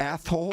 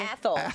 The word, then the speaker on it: Athol: If Athol. Athol.